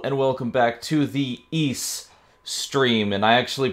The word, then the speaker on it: Ys: zennith no rule and welcome back to the east stream and I actually pronounced it correctly this time we are on